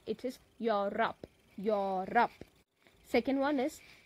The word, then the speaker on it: Europe: across Europe so please pay attention to the pronunciation of this particular continent it is not you rope it is your rap your rap second one is coalition is a